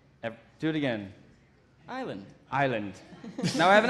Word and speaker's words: Ireland: Ireland is stiv yeah you want to say our island that's the correct way to do it I'm wrong I'm wrong yep do it again Island Island now I have an